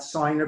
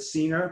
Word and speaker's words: Senior: My name is Rabbi Senior, not Signer, but Senior, but it's okay. Often gets mispronounced. As long as it's not Sinner, I'll take it.